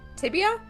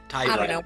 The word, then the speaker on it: tibia: Actually, I think the pop I felt was the So, the tip of my tibia, fibia, tyibia. It's pronounced.